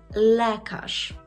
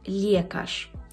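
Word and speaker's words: lekarz: Отже, ви вже знаєте, що «л» у польській мові завжди м'яке, а «е» завжди вимовляється як «е». Що ж нам тут зробити? Наприклад, у нас буде слово «лекаш».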